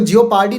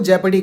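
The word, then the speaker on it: jeopardy: इसको जियोपार्डी नहीं कहते, इसको जेपडी कहते हैं, ध्यान रखिएगा, प्रोनाउंसिएशन सही रखिएगा इसकी।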